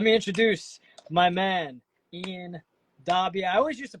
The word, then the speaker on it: Daube: future but let me introduce my man Ian dbby I always used to pronounce it wrong I used to pronounce it Ian I was like yo this guy Ian